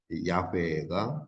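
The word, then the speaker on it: 야훼: 만들어 학사들이 그렇게 만들어냈는지 아도나이 하는 히브리어 모음을 가져다가 여호와에 다 붙였고이 야라고 하는 내 자음에 붙였고 그래가지고이 여호와라는 발음을 만들어냈어요 그래서 에서 호바라 하는 것은 어 학자들에 의해서 만들어진 발음이지만 발음이 아니에요 그런데 이제 어이 발음에 대한이 그리스이 발음이 발굴되면서 비로소 모음과 애 모음이 쓰였다고 하는 것이 발굴되었고 그래서 야외가 더 정확한 발음이다 라고 하는 것이 오늘날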